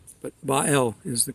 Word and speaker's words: Baal: of Babel by L you may know it pronounced as Baal but bael is the correct pronunciation the Hebrew pronunciation anyway